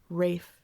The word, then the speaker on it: Rafe: It's pronounced Rafe.